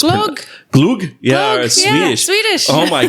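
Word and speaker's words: glögg: I think it's pronounced glug, but it's glug.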